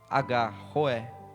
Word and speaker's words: Roé: Jeová Roé, R-O-E, Roé, que é o Senhor é o meu pastor.